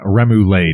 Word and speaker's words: remoulade: accent to say it i'm just going to start saying remoulade because it looks like lemonade you know it's going to be pronounced i can promise you